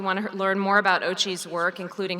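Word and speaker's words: OCCHE: We affectionately pronounce the name of the office OCHE, the Office of Climate Change and Health Equity, so you'll hear me calling it that. OCHE is charged with coordinating efforts across the Department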